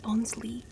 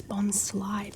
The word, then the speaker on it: Bonsly: It says how to say it. It says Bonsly. It's not Bonsley, it's Bonsly because it's tricking you.